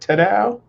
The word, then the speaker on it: Tadao: Is that how you pronounce that? Tadao? Yeah, Okay.